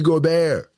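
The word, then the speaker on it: Gobert: Yes, I said Rudy Goar.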